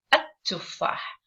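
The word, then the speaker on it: التفاح: So I say at-tuffah. So can you see I am stressing on the letter T or the T sound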